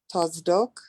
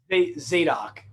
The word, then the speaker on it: Zadok: For the priests of the sons of Tazok, how do you say that, Doug? Tazdok? Zadok, yeah. Zadok, okay, who are set